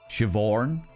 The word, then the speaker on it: Siobhan: So they spelt the name S-H-V-O-R-N-E. Siobhan. Literally, like, phonetically spelled it.